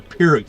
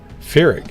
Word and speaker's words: Pyrrhic: Is it Pyrrhic? Like a F sound? Or do you pronounce the P? Pyrrhic. I've always pronounced it with the P.